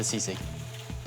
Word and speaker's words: sisig: Order up, sisig hot dog.